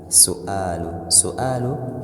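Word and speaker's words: سؤال: Su'alu is a question in Arabic. A question in Arabic is pronounced as su'al.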